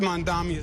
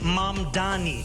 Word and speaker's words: Mamdani: The name is Mani. M A M D A N I. You should learn how to say it because we got to get it right.